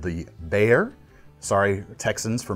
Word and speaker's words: Bexar: last week called the Bear. Sorry, Texans, for mispronouncing it. On the page, it says Bexar. I didn't realize it was pronounced that way, so my apologies.